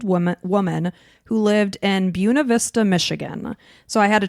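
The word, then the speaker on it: Buena Vista: was a 32-year-old woman woman who lived in Buuna Vista, Michigan. So I had to train myself how to say this town because here in Florida we say Bua Vista.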